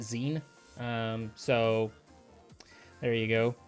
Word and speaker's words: X33N: I pronounce it Zen.